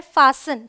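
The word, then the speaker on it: fasten: यहाँ पे एस टी है, ये है फासन, टी साइलेंट है।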